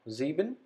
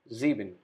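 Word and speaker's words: sieben: sex number six now zeben number seven again s is pronounced as zed zebin number seven number eight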